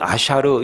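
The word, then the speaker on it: אשר: 여러분, 히브리 말로 복이라는 말이 여러 가지 뜻이 있고 여러 가지 단어가 있는데 오늘 본문의 말씀은 아샤르 이렇게 발음을 합니다.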